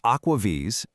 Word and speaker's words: AquaVis: It's pronounced Aquaves.